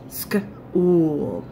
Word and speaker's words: school: this is a wool so the H is kind of silence in this silent school school how would we turn school